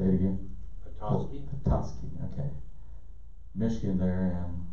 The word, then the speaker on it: Petoskey: It's P-E-T-O-S-K-E-Y. Pelosi. Sounds like Pelosi. Pelosi. Michigan. Petoskey. Yeah. Say it again. Petoskey.